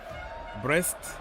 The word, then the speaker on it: Brest: being rude here okay breast just means something in French so it's pronounced the same way but it's not what you think so h no no